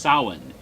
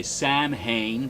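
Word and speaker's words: Samhain: h i n and is pron and is pronounced sa in the Celtic language even though a lot of people say sam ha because they don't know how to pronounce those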